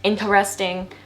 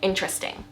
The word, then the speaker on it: interesting: Instead of saying it 4 syllables, like a lot of you guys will mispronounce it, interesting, we just say interesting. Interesting. 3 syllables.